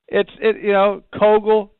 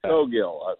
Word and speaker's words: Cowgill: Kögel, Cowgill. I'll take just about anything I can get. How about that? Somewhere in between Kögel and Cowgill is how it's supposed to be pronounced. It was Cowgill, so that's my mistake.